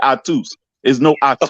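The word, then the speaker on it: Ahtoo: pronounce pronounce a-h-t-o-o oh so like the dance effects on like octo spit that no no you say I twos okay I get it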